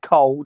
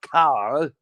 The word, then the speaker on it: Cole: We say it properly. It's Cole's name. If Cole says it said Cole, then it's Cole, not Carl.